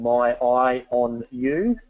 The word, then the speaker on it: Myionu: I want to move on a little bit to job and team tracking, and a product called My Eye on You is how you pronounce that.